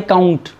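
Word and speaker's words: viscount: line है वह अकाउंट इसमें जो एप्स है यह साइलेंट होता है इसको क्या बोलेंगे वह अकाउंट उसके बाद बे्रन है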